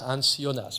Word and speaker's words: Hans Jonas: Bon, en allemand, Hans Jonas se prononce Hans Jonas, mais peu importe.